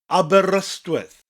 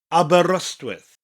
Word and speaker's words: Aberystwyth: Aberystwyth. Aberystwyth.